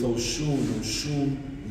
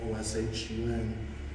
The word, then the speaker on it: Oshun: So with Oshun literally means the source. And it's spelled O-S-U-N, O-S-H-U-N.